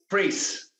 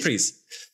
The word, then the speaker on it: Preece: how to pronounce it priest it's just priest yeah like like priest but without the te on the end ah yeah so it's